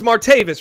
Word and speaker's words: Martavis: mispronounce his name anymore it's martavis right why are you adding a little tavius this is just making sound a little more Octavius right Octavius okay well